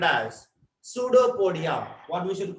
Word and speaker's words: pseudopodia: PS is a pseudo. Understand? P is silent. Pseudopodia.